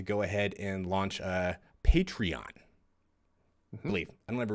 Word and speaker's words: Patreon: ahead and launch a Patreon. I believe. I don't ever really talk about it, but I'm pretty sure that's how you say it. Patreon. Patron. Maybe I'm getting that confused with the alcohol.